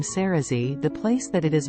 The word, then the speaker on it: Cerasee: and Asia fun fact many people search for the word Cersei instead of cerazee because of the pronunciation however in a Google